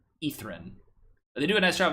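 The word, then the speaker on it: Ythryn: crazy uh this is the another reason Acropolis is spelled y-t-h-r-y-n etherin is how it's pronounced ethrin they do a nice job of making it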